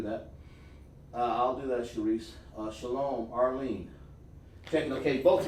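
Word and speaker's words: שלום: Do not say shalom. Don't do that. It's shalom. Why is it shalom? Because of this. Sha, la, and ma. There is no O sound in the Hebrew. There's no U sound.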